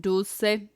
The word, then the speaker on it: dulce: You hate to be that guy, but it's pronounced dulce.